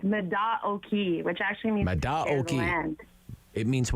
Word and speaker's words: Mata Oki: do you say that is it Matt Oaky am I saying that right no that's okay we get that that issue all the time it's Meda o'kee which actually means it